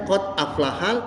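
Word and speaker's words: قَدْ أَفْلَحَ: Qad aflahal, nah, bacanya qad aflahal karena ada alif lam di depannya.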